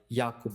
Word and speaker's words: Jakub: Yeah, lots to talk about there, and not to correct, but Jakub. So I use like a U.S. pronunciation. All my European friends will say Jakub, so not a stranger to that at all.